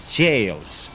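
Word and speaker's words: gaol: can always handle the jails or the guiles, if you people don't know how to pronounce it, it's Old English, it's jail written differently, just like the Skadu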